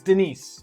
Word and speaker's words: Denis: It's Denise. It's pronounced Denise. He's Russian.